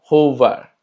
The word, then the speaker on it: roubar: Cuando se encuentra al inicio de una palabra, se escucha como una J de nosotros.